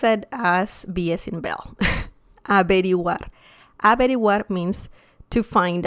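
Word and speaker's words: averiguar: something okay remember that the v sound in spanish is very similar to the b as in bell in english so don't worry about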